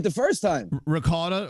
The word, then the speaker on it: ricotta: Ricotta. Oh, no, they say rigot. I'm like, what language? Yeah, rigot.